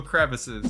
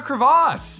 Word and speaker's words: crevice: It It's crevice. That's how it's spelled. That's how it sounds. That's how it's supposed to be. It's a crevice. It's not a crevasse.